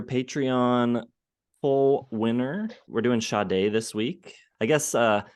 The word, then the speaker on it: Sade: We're doing Sade this week. I guess someone told us online that the correct pronunciation is Sade, but I will not be saying that. I will be saying Sade for the entire It's video.